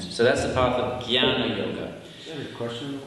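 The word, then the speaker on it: ज्ञान: It's one of the only words in Sanskrit that is not pronounced as it's written.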